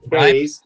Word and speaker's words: Takei: So right here, 23-520 points out one of George Takei. Am I saying it right? Yes. Takei's.